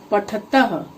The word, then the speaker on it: पठतः: जो क्रिया होता है उसमें जब हम उच्चारण करेंगे तो तह त के बाद विसर्ग अवश्य रहता है। तो इस तरह से भी हम द्विवचन को पहचान सकते हैं। पठतः, बालिके दो लड़कियां, पठतः पढ़ती हैं।